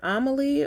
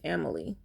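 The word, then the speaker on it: Amélie: I believe it's pronounced either Amelie, or I'm just going to say Amelie. I don't think it's Emily.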